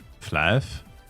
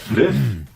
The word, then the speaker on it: Flyff: Flife? Based. Ganz normal halt. Based. Du meinst Fliff? Da spricht man doch nicht Flife aus, du Vollidiot. Das heißt Fliff. Fly for fun.